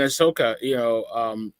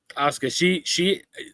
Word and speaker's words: Asuka: That was a good match, Alexa Bliss, and then Ahsoka. I said her name wrong, but I do it all the time.